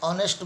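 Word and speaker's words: honest: जहाँ पर H silent है, जैसे एन ऑनेस्ट बॉय, हम कहते हैं ही इज़ एन ऑनेस्ट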